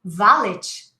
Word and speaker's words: valet: And valet, deixei meu carro no valet. No, we say valet. Buffet, valet. It's almost as if you were pronouncing an EI.